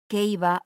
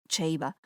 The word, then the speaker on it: Ceiba: Si nos ponemos tiquismiquis con la pronunciación en latín, habría que decir ceiba o cheiba, pero no lo haré, porque el origen de esta palabra enraiza en lenguas indígenas caribeñas.